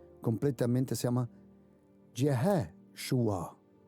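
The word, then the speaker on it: ישוע: Pero el nombre de Jesucristo, si quieres pronunciarlo completamente, se llama Yeshua. Yeshua.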